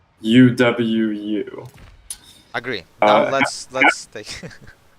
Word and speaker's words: UwU: Point at Legion and say boo, and also say UWU. Agree. Now Uh, let's take. All right. that is pronounced uwu.